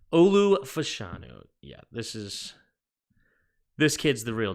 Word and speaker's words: Fashanu: Is that or Fashuma? What? How do you spell that? Oh no, Fashanu with an N, not an M. Olu Fashanu.